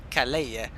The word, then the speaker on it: Calais: How do you pronounce that word here? Calais.